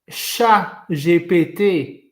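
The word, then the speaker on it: ChatGPT: So you think to yourself what Chat GPT basically is the way they pronounce it in French, right? And everybody says it like that. It basically means cat, I farted.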